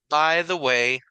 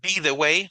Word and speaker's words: by the way: by the way aj by b g se pronuncia como by parecido como cuando decimos adiós verdad está la palabra by de adió y está la palabra by y ambas significan suenan iguales verdad Entonces by the way no be the way verdad sino by the way como que si fuera la y un sonido by Así es como a